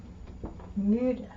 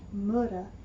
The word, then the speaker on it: müde: But, in the word müde, which means tired, it's not müde, it's müde. Müde.